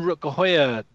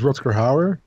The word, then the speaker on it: Rutger Hauer: They always say the English version. So it's the in the English version is Rutger Hauer. And in the Dutch version, it's Rutger Hauer.